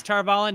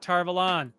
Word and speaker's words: Tar Valon: the flame of tarvallen yes tarvallen not tarvalan you're still here just